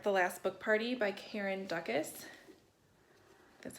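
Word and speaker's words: Karen Dukess: I did start The Last Book Party by Karen Dukas.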